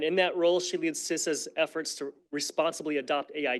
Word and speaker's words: CISA: if you can tell every time I say sisa there's a little part of me that wants to say ca and I know half